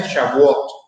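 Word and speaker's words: Shavuot: el idioma eh judío, hebreo, eh se se pronuncia shabot.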